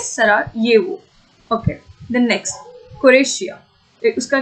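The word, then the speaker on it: Sarajevo: ये जे है लेकिन उसको ये प्रोनाउंस किया जाता है, इट इज सरायेवो।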